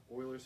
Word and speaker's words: Euler: so yeah so now we're gonna talk about Euler's formula which it's pronounced Euler not you or something weird so